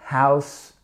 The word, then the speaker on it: house: Parce que le H se prononce.